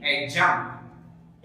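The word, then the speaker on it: adjunct: ध्यान दीजिएगा, एडजंक्ट नहीं एडजंक्ट। ए और जे के बीच में जब भी डी दिखता है तो डी साइलेंट रहता है, एडजंक्ट।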